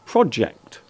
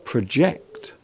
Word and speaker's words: project: You will notice that in verb form the word is often pronounced differently. The noun is normally pronounced project, while the verb form is normally pronounced as project.